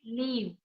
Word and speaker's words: leave: Live versus leave. Yeah, yeah, yeah, yeah. So you know the difference, right? One is short and other is a Yes, little yes, long, right?